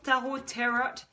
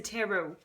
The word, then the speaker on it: tarot: dit qu'en anglais, tarot, je disais toujours tarot, et en fait, non, c'est tarot. Donc, il n'y avait pas de T à la fin, ça ne se prononce pas.